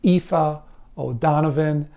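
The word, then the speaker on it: Aoife O'Donovan: I checked it out several times it is pronounced IFA O'Donovan again an Irish singer singer songwriter and this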